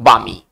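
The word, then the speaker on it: balmy: second word की ओर बामी इसको पढ़ेंगे बामी एल साइलेंट होगा यहां पर एल का उच्चारण हम नहीं करेंगे इसको पढ़ेंगे बामी बामी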